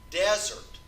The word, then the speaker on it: desert: I use each okay the word desert des ERT can be used as a noun or as a verb and they're spelled or they're pronounced differently between the noun and the verb if I'm talking about spend time in an arid desert as that now you'd spell it des or ERT and it's desert that is a verb